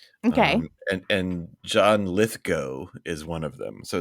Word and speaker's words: Lithgow: names that that 98% of the people um pronounce wrong okay and and John litho is one of them so it's litho not Lithgow oh I see lith go go go yes